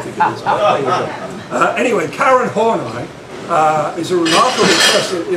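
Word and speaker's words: Horney: joke I don't think it is anyway Karen horai uh is a remarkable person in the history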